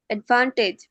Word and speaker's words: advantage: হয়েছে advanced, advanced, advanced, advantage, advantage, advantage, advantage, টেজ না টিজ টিজ অ্যাডভান্টেজ advantage, advantage, advantage,